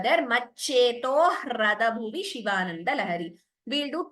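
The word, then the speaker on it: मच्चेतो: It is maccheto. Please note, it is not maccheto. There is no extra tha there. Maccheto hrada bhuvi Shivanandalahari.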